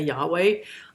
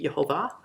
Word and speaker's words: Jehovah: in the old testament i know a lot of people will will say yahweh i don't know where that actually came from because in my hebrew classes that i studied the correct pronunciation for that would be jehovah and so that's really close to our english jehovah so i much prefer